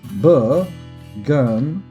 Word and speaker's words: Bergendorf: Set nickname Bergendorf. Rhymes with surf and turf.